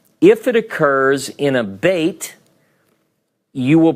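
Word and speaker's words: בֵּית: Some will call this a vet because it's pronounced as a V, and this as a beit because it's got the dagesh.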